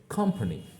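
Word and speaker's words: company: তো দেখো ও এখানে ব্যবহার হয়েছে, কিন্তু আমরা ও সাউন্ড আর উচ্চারণ করছি না, কিন্তু এখানে উচ্চারণ করছি কি আ, অতএব এটা হচ্ছে কোম্পানি।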